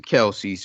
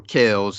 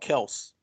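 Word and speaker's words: Kelce: so let me introduce you to uh travis kelsey's or kells as his real is pronounced supposedly pronounced kel it's called kels yeah kells because uh he said his father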